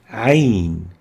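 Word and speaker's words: عين: then start with hamza ain is similar to hamza a sound but with a choking added to it choking sound uh articulates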